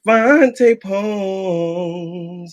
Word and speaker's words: Vante Poems: Well, all I'm gonna say is my name is Vante Poems. You'll get to know me. But if you ever forget, I like to say it like this. It's Vante Poems, yeah.